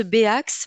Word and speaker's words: Bax: d'ailleurs que voilà, on prononce Bax, mais ça s'écrit Ah bien, B.ax.